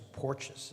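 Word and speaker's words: Porteous: There in 2010, uh there was a Louisiana judge, um Thomas, I think it was Porches is how you pronounce his last name.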